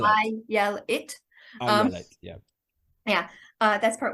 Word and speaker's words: Ayelet: pronunciation part first of all my name is pronounced uh I yell it as I said I yell it um yeah uh that's part one and it's